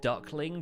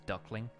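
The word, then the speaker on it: Duk Ling: The ship is actually called Duckling, but it's spelt like D-U-K space L-I-N-G, which is a very Chinese-looking name until you realize it says Duckling.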